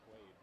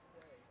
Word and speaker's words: Quay: Did she say his name is Quay or Quaid? It's Quay. Q-U-A.